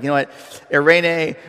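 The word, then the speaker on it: εἰρήνη: like you know what irenae rhymes with hairspray um you won't have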